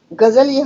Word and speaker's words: ग़ज़ल: के दुख भरी कहानी ग़ज़ल उर्दू अरबी शब्द है और इसका उच्चारण होना चाहिए गजल गजल गजल गजल इस तरह से चाहिए ए गजल कविता का